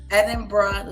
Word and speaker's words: Edinburgh: Edinburgh lass. Yes. Edinburgh lass. Edinburgh lass. Edinburgh lass. Yes. So you say it a little bit little bit quicker without thinking about it.